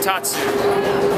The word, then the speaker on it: Tatsu: So next up is the ride Tatsu. Is that how you say it? Yeah. Ladies and gentlemen, George Rotana and Kat Racinos. Hi. There are dates for today. Anyway, so this ride is called Tatsu, and it's pretty sweet because apparently you lay